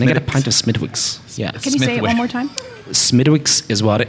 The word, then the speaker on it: Smithwick's: America couldn't pronounce mythix there's a W in it and the w is silent for sure miss miss can I get a pint of Smithwick's Smithwick's is water it's